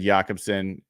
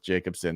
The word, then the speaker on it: Jacobson: So I said Jakobsen. The spelling really sounded like the Nordic pronunciation would make sense, but I will go with Jacobsen.